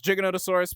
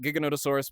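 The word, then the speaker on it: Giganotosaurus: Uh, but then again, you can call it Gigonotaurus because the guy who named it um, uh, he spoke Spanish, so they pronounce it differently.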